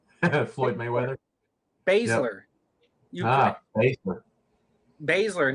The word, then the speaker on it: Baszler: Baszler, not Basler.